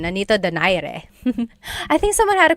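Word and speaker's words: Nonito Donaire: So our first poll here is going to be Manni Pacquiao versus Nonito Daire or is in in the Tagalog uh pronunciation. Nanito Dire.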